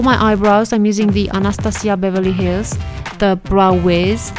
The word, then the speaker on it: Anastasia: If you are wondering why I'm pronouncing her name like this, just know that this is the correct pronunciation because she comes from Romania just as I do actually, and this is how I know. So it's not Anastasia or Anastasia or anything like that, it's Anastasia, and this is just